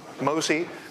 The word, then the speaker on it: MOSI: But you start with MOSI, as I pronounce it, master out, slave in.